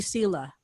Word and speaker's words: Selah: So just very quickly, I first heard the word Selah, pronounced as Selah, because it was the name of like a character in a favorite show of mine. So that's how I read it when I read the Psalms. So and God, it is traditional. It is in some Christian pronunciations of it will be Selah.